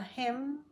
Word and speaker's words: hymn: autumn he sang A Hymn when you have MN at the end of the word the N is silent say it with me